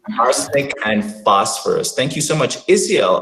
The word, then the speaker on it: phosphorus: language is so funny ph makes the f sound can you imagine that it's arsenic and phosphorus thank you so much